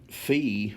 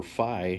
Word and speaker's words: phi: from the positive x-axis fee or phi however you want to pronounce it is the middle differential